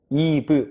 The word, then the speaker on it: eve: 살짝 주의하셔야 될 점이 알파벳 V V 있죠 알파벳 V 발음하실 때 윗니로 아랫입술을 살짝 머물면서 한국말로 비읍을 발음해 주시는 거예요 다시 한번 윗니빨로 아랫입술을 살짝 깨물어 주시면서 비읍을 발음해 주세요 다시 한번 따라해 주세요